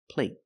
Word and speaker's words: plate: the long a but the stop T at the end makes the long a a little shorter let's listen again play play